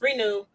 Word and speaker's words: Reno: Renew or Reno. It's spelled Reno, but it's Renew My Rental.